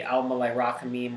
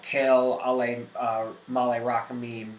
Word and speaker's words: El Maleh Rachamim: Then you have the Maleh Rachamim, or Kel Maleh Rachamim, depends on how you want to pronounce it, what part of the world you're from. This is really the central liturgical piece.